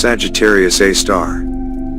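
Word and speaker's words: Sagittarius A*: of radio noise called Sagittarius A, pronounced Sagittarius A star.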